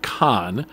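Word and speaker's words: Caen: will also visit the city of Khan which is spelled c-a-e-n not to be confused with the city of Khan in southern France and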